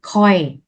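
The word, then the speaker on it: ຂ້ອຍ: Từ đầu tiên từ này đọc là khoi.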